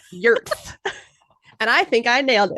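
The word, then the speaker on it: Jörð: I would say no, it is spelled with a J. It is Jord, but it's pronounced Jörth.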